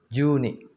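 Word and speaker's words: 十二: Re, zero, ichi, ni, san, yon, atau si, go, roku, nana, atau shichi, hachi, kyu, atau ku, 10 ju, 11 juichi, 12 juni.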